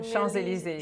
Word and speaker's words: Champs-Élysées: It's very cute, but it's you don't pronounce the P. So Champs-Élysées.